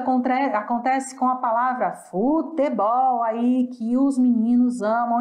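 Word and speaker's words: fútbol: é o Ball mas em espanhol a sílaba tônica muda de lugar futebol o futebol e em espanhol ele vem acentuado Então já vai ajudar você a pronunciar mais forte a sílaba que acentuado o que a gente sabe que quando vem acentuado é neste local do assento a minha sílaba tônica certo então é futebol futebol outras palavrinhas que são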